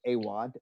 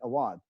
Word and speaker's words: Awad: And I know some families that pronounce it Awad and some pronounce it Awad. So Awad. It's like Awad.